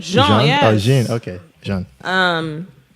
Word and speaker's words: Jean: That's how you pronounce his name, right? Jean, yes.